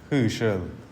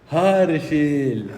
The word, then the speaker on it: Harshil: You write it like H-U, but you pronounce it like H-E. It is H-A. Herschel. You also don't know my name. It's H-A. So Herschel. Harshil.